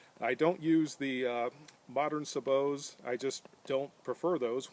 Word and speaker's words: sabot: is the bullet shoe, and it's properly now pronounced sabot, not sabot.